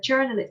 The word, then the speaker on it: journalist: So remember cái từ này bạn đọc âm nhấn âm nhất và bạn đọc âm nha. A journalist, không đọc là cho.